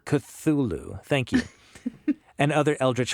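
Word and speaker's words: Cthulhu: sanity loss in Call of I can never pronounce this right cthulu cthulu Thank you and other eldrich horror games for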